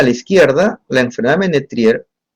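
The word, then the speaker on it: Ménétrier: Puede corresponder a la famosa enfermedad de Ménetrier, tengo entendido que se pronuncia, yo no soy francés, Ménetrier, y o síndrome de Soligner-Ellison, que es otra enfermedad completamente distinta.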